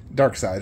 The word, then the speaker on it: Darkseid: pronounced Darkseed? Darkseid is how you pronounce it.